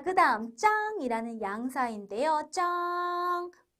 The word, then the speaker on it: 张: 그다음 짱이라는 양사 있데요 짱 중국어 발음이 우리말의 뜻 발음과 비슷합니다 장이에요 종이 한 장 맞아요 그때의 장이에요 중국어의 이장이라는 양사는 우리말과